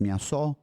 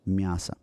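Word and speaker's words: мясо: masasa and it is the O is pronounced as an a here because it is the first vowel there's a grammar rule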